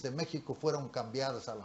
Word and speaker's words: México: inicialmente porque es el méxico antiguo a nosotros nos referimos a méxico generalmente con la equis pero no lo pronunciamos en esa forma lo pronunciamos méxico y mexicano no no